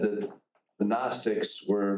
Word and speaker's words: Gnostic: it's not agnostic it's Gnostic right an agnostic is somebody that says I don't know if God exists it means not knowing gnostics with a G GN the g is silent g n o s